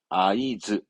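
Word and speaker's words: 合図: 수신호 하든 눈짓으로 신호하는 그 신호를 말한 단어입니다 발음은 아이즈 아이즈 이것도 이제 엔초쯤 되면 많이 나옵니다 아이즈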